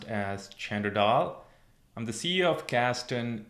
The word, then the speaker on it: Chander Dhall: is Chander Dhall, commonly pronounced as Chander Dhall.